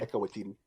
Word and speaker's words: Taika Waititi: Taika Waititi, sorry, I mispronounced his name. Taika Waititi.